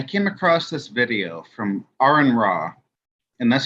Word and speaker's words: Aron Ra: weeks ago I came across this video from Aaron raw and that's how you pronounce his name Aaron um he is a